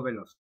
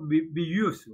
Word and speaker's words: Veloso: Camboya el portugués Diego Veloso. La pronunciación en portugués sería como Diego Villuso, ¿no? Pero bueno, se ha españolizado su nombre, ha pasado hacia la historia, como Diego Veloso.